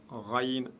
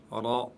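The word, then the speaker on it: راء: Et le ra, lui, prononcez-le toujours de manière lourde. Ok? Vous dites ra, et non pas ra. Non, ra.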